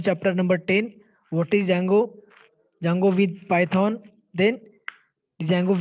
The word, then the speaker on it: Django: here see the pronunciation jang oh okay here d is silent so that's that's why it is django it is a free